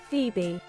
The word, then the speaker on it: Phoebe: it to pronounce wrong but dude okay Foy pronunciation ah okay guys listen to this Phoebe Phoebe Phoebe he's a feet baby Phoebe is